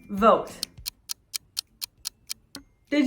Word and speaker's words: voted: past tense vote would we say voted or vote did you guess voted correct the verb vote ends in it sound so we pronounce the ed ed syllable do you remember